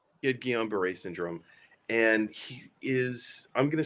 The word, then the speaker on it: Guillain-Barré: So I never know how to pronounce the syndrome. Can you say it for me once again? Yeah. It's called Guillain-Barré syndrome. Guillain-Barré.